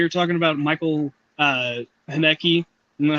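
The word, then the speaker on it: Haneke: Oh, remember the other day when we were talking about Michael uh Haneki? Know how to pronounce his name? Hanekki. It's It's Henecki. Yeah. Not Hanukkah. It's Haneki. Yeah, Haneki.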